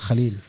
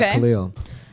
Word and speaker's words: Khaleel: So my name is pronounced Khalil, not Khalil. And I say, assalamu alaikum.